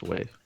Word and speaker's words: WAV: It's wave. Wave has an E at the end of it? The E is silent.